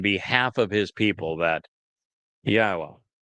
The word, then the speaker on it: Yahweh: of his people that Yahweh, which is God's name properly um articulated based upon haya and Torah which provide us with the instructions on how to pronounce it.